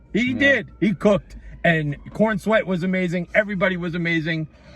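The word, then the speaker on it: Corenswet: I think it's Corns. Nope, it's Corn Sweat.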